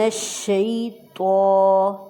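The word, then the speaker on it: الشيطان: ہے، اعوذ، زال نرمی سے، اعوذ باللہ من الشیطان، تو موٹی، من الشیطان الرجیم، نیکسٹ کے ساتھ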